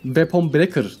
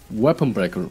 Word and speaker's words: Weapon Breaker: Yine asas itemlarına devam edersek bir diğeri birçoğunun Weapon Breaker diye İngilizce katlettiği, doğru okumaya çalışan da Weapon Breaker diye yanlış okuduğu, doğru okunuşu Weapon Breaker olan asas silahı.